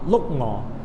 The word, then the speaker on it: 碌鹅: 这个鹿鹅啊，广东话正确的发音呢是叫做鹿鹅，因为刚